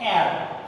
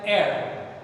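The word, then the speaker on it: heir: An air, here see, H-E-I-R, here in this noun H is silent, so that is why we have to pronounce it like air, E-I-R, right?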